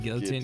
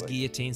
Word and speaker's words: guillotine: And I know it's Guillotine. Someone's going to say, actually, it's Guillotine. And I will say, actually, I'm Romanian. So if I want to pronounce French words correctly, I can. Okay, let me do this. I just like to say it as Guillotine, but I think it actually is Guillotine.